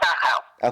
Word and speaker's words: Dachau: I don't know how to pronounce it. I don't speak German, so... No, I know. It's called Dachau.